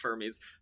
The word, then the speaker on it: Hermes: Yes, we're gonna it's it's it's pronounced Hermes.